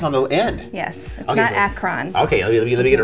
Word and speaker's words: Akron: up in Akron right now yours you're not pronouncing it correctly Akron also the access on the end yes okay Akron okay you're gonna get it right now so